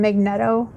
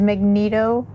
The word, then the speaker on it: Magneto: me and my brother called him magnetto for most of our lives and then watched the movie where his name is Magneto so yeah there that's my problem to be fair it should have been Magneto I mean that's how it's spelled but Magneto sounds eviler